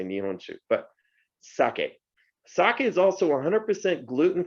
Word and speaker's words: sake: it's pronounced merlot but we say that french word very easily merlot not merlot but if you look at the spelling it's like merlot so if we can say merlot we can definitely say sake so please help me teach the rest of the planet excuse me how to say this four letter word which is sake all right if you